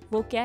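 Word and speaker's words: walk: जो चाक है इसमें जो L है वो क्या है, साइलेंट है।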